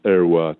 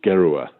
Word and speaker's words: Heroys: French, but I think the Russians had problems with pronunciation of French surnames, especially when they had an H, and they tended to substitute the H's with G's. So it really it changed from Herroy to Gerua.